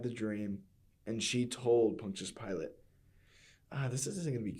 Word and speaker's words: Pontius Pilate: Immediately after Pilate's dream, Barry Dennen playing Pontius Pilate. Is that how you say it? Pontius Pilate, yeah.